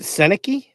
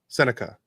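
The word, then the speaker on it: Sennecke: And I think it would be So is it Senaki? Senica. Oh, okay. Did I say Senaki? You did. I just thought of maybe we've been saying it wrong the whole time.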